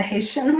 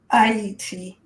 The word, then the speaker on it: Haiti: it the way a Haitian would say even though they were speaking Creole um they kind of said Haiti um which uh you know Haitians would say IET so the H is silent and at first when